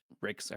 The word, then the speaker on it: Ryx: It's Rex, right? yeah, you got it. Rex.